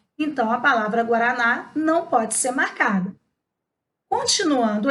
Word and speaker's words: guaraná: Só que Guaraná, preste atenção no som, é escrita com GU, mas o U tem som.